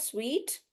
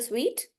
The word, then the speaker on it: suite: So, the pronunciation of this word is the same as this word, suite. It's a suite. Yeah. And the one that you wear is a suit, but this is a suite.